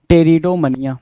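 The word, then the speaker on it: Pteridomania: यहाँ अगेन आपके सामने क्या है भाई, अगेन पी आपका साइलेंट है, टेरिडोमनिया, द टर्म इज टेरिडोमनिया।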